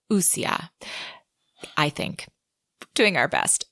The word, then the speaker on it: wuxia: And actually, after going back through some YouTube videos, I found out we were pronouncing it wuxia, and that is very wrong. So a more correct pronunciation of that would be wuxia.